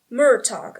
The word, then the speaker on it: Murtagh: They have a pronunciation guide that isn't as complicated as the one in Lord of the Rings. Murtagh. Oh, I was completely right. Okay. Murtagh.